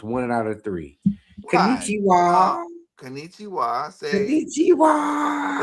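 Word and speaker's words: こんにちは: Konnichiwa, which is good evening or good So afternoon, say less.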